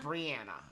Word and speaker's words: Briana: like breathe Brian Briana Briana breathe no it's like Ryan Briana oh that's beautiful